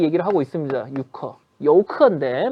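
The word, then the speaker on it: 游客: 여우커인데 뭐 유커라고 발음을 하니까 저도 유커라고 해 드릴게요.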